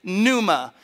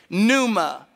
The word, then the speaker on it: pneuma: get the word breath it's pneuma spelled with a p like pneumatic if you have pneumatic